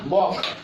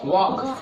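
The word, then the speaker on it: walk: क्योंकि ये के से पहले आया है, तो अगर के से पहले एल आता है तो एल साइलेंट होता है, तो इसको पढ़ेंगे वॉक। क्या पढ़ेंगे? वॉक।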